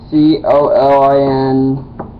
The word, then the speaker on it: Colin: do have a Facebook c o l i n it's my first name it's pronounced Colin and um before want to